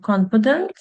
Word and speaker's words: confident: So for the first adjective, confident, it has 3 syllables. And the word stress is in the first syllable.